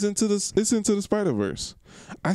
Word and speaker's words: Spider-Verse: We went to go see Into the Spideyverse. Is that how you say it? Spider-Verse? Into the Spider-Verse. It's not Spidey. I don't know why I keep saying Spideyverse.